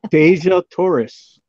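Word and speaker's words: Dejah Thoris: Then, how is it pronounced? Deja Torres.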